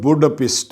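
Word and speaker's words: Budapest: کا نام ہے ریڈی۔ ہنگری کا دارالحکومت بوڈاپیسٹ ہے، یعنی یہی ہے تلفظ، وہ کوئی بھی جو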